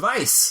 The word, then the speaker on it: Weisz: my name because um I pronounce it Vice my dad pronounces it Vice and it's a w and in England there